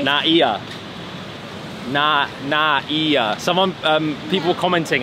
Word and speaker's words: NAIA: Terminal 3 NAA na NAA someone um people commenting how to properly pronounce it we say like NAA we like blend it but it's like na NAA yeah yes Koda